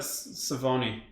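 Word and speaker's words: Sauvignon: the one cabinet cabinet cabinet savoni rhymes with baloney um when i was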